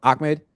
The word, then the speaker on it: Ahmed: Ahmed? Is it Ahmed? Or how do you pronounce it? Yeah. Ahmed?